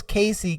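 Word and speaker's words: Kiyseigh: okay so she SP she spells Casey k i y s e i g h but it said it's pronounce like KY k a c y if I was him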